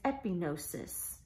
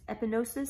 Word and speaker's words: epignosis: in this verse is epignosis epi G in OS is sometimes when we read that Greek word in English we don't pronounce the G some people don't it's epignosis sometimes it is pronounced epignosis but this is different